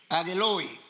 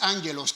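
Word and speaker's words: ἄγγελοι: Dice ángeles, la palabra en griego agueloy. Agueloy no es ángelos, como algunos dicen.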